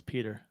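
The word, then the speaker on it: Pyotr: would have never guessed Peter Oh What It Is What It Is occurred the O is silent and the E is non-existent right and the Y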